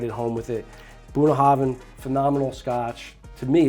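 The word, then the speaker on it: Bunnahabhain: to pronounce it but it's it's buah Haven right not buah haban hav what I don't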